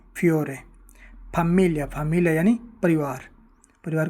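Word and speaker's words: famiglia: Italian में फमिलिया। फैमिलिया में आप देखते हैं कि जी एल आई जो है इसको ल की तरह पढ़ा गया।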